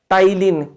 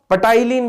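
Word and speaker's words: ptyalin: क्या कहा जाता है, टाइलिन, ठीक है, जिसको पटाइलिन भी बोलते हैं, मतलब पी मतलब साइलेंट है इसलिए टाइलिन, बाकी आप पटाइलिन, ठीक है, तो टाइलिन ही बोलना है।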